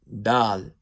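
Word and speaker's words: د: Next letter, dal, pronounced softly with the tip of the tongue touching the roots of the Naya Ulia.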